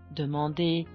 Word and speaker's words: demander: Air, R, when it's an ER at the end of an infinitive verb, what is pronounced as E, demander, ajouter, méditer, as ask, add, meditate.